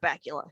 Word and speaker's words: Bakula: And I love Scott Bakula. His name rhymes with Butt Cracula.